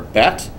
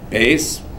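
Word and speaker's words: ב: And the second letter in the Hebrew alphabet is the letter Bet, right? Beis. I grew up Ashkenazis, I was taught to pronounce it.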